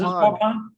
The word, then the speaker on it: Waupun: How do you pronounce that? Oh man, I'm a terrible Wisconsin. Vince, you would know this. Is Waupun. Yeah. Yeah, Waupun. Waupun.